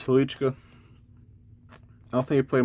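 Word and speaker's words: Hnilička: I believe I'm pronouncing that correctly, because I remember seeing his name as a kid and wondering how the expletive you're supposed to say that word. But I'm pretty sure, at least the anglicized pronunciation is Halichka.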